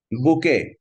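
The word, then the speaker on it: bouquet: বুকে অর্থ ফুলের তোড়া, এটার নাম এই লাস্টে টিটা উচ্চারণ হয় না, ঠিক আছে, লাস্টে টি উচ্চারণ হয় না, উচ্চ হচ্ছে বুকে।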